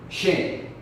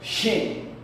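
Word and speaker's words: chen: Vamos a pensar, ok, vamos a escribir Shen. Aquí estamos usando diferente. Estamos usando CH y también E. ¿Ok? Aquí decimos Shen. Mira la CH aquí. Sh. Y luego EN, que es E, viene siendo Shen, que es perro.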